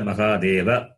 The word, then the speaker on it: Mahadeva: But in Hindi, the last vowel is always cut, not pronounced. But in Saṃskṛtam, it is not like that. So Saṃskṛtam, all the Uccharanam of every letter as it is must be pronounced.